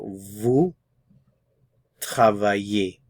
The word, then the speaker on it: vous travaillez: Remember also we're not pronouncing the consonants at the end of these words here. So vous travaillez.